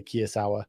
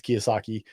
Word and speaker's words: Kiyosaki: guys like robert kiyosaki i said it right this time sarah i always say kiyasawa it's not his kiyosaki he is the right author